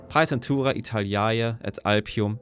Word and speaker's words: Praetentura Italiae et Alpium: the I'm just going to use the latter pronunciation. Pisentura Italaya at Alpium, a special military district to protect northeastern Italy was created.